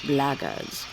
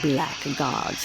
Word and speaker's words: blackguards: If you're another one of those blackguards, And that's the way to pronounce it, not black gods like that thug insisted it was.